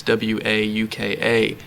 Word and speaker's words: Wauka: It's Wauka. But I was convinced one day that must have been just the southern mispronunciation of Walker.